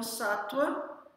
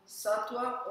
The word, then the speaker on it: sattva: Então, sattva, S-A-T-T, U ou W, A, pode ser pronunciado como sattva ou sattva.